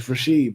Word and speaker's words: Rashee: It's Rasheed, bro.